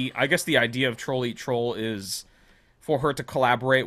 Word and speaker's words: Trollearttroll: Oh, it is Troll Eat Troll.